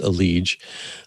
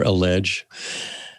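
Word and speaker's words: EliGE: star cs go player aleege e-l-i-g-e but pronounced a liege or a ledge and one episode talks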